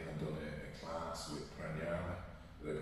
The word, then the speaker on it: Pranayama: The whole reason I came across you was I sat with you and done a class with Pranayama. Did I pronounce it right? Yeah. Pranayama was absolutely fantastic.